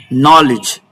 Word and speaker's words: knowledge: These are all the words that have the letter D to be silent.